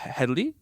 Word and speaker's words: Headey: Headey. Okay, Lena Headey. She will be like the headmaster of the school. Sorry, Lena Headey. Headey. There's no L with her.